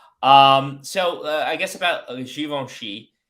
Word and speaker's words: Givenchy: you didn't know um so I guess about shivon she it's a French brand by a french guy